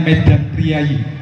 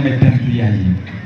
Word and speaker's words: Medan Prijaji: bikinan masyarakat pribumi namanya Medan priayi atau tulisannya kalau bahasa dulu itu Medan prijaji kita membacanya Medan priayi media bikinannya orang Indonesia